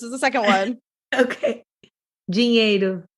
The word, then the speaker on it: dinheiro: Dinheiro. Yes, you put like a J sound for the D, right? Like dinheiro.